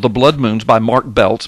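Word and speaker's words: Biltz: Blood Moons by Mark belts b i l TZ but you pronounce it belt um he uh he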